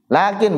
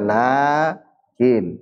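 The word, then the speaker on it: لكن: secara langsung enggak ditulis Itu lakin bukan laakin bukan tapi ya lakin G bacanya bukan lakin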